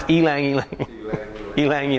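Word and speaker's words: ylang-ylang: it's more floral talking about the yangyang it's pronounced elang elang Lang yeah I've heard a lot of different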